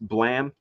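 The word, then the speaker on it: BLAME!: I could have picked there's uh one that's pronounced blam uh but it's spelled blme uh that one's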